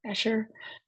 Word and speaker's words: Escher: is maritz Cornelius eer and that's how it's pronounced eer um he was born in 1898 and lived until 1972 so a fairly recent artist compared to some of the other ones we studied eer is a Dutch graphic artist um largely known